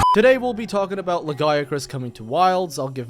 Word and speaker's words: Lagiacrus: It's pronounced Lagiacrus. In this channel, under my roof, you will obey my rules, young man. I'll accept Lagi, and I'll even give a pass to Lagiacrus, even though that sounds like an STI.